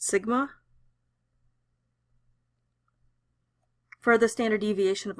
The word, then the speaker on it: sigma: on it this is a Greek symbol it's pronounced Sigma for the standard deviation of a population now